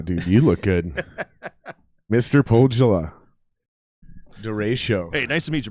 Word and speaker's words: Pohjola: a whole town called pogella and you said everybody says it the way i originally said which was pahola yeah i think the j is silent and that's incorrect that is incorrect so